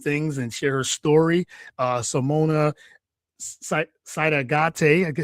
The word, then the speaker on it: Sidaugaite: Simona Sidaugaite, I said it right, Sidaugaite.